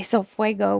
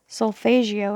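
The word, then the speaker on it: solfeggio: how to say it i used to say so fuego but i know that's wrong so so solfegio i think is correct um this is the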